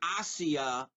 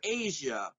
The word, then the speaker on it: Asia: stars Asia Argento and she pronounces her name hacia Argento but since she's a suspect in the murder of Bourdain Anthony Bourdain I'm gonna call her Asia Argento she stars in